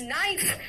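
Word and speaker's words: knife: के कहां-कहां साइलेंट है? देखो तो इट्स नाइफ। नाइफ कहां है? का नाइफ नहीं कहा है। देखो नाइफ है बेटा।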